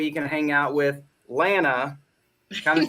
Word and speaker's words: Lana: It's Lana. Lana. Okay. Sorry. You know, they wrote banana next to my name on John Legend's paper. I found out so he would say it right.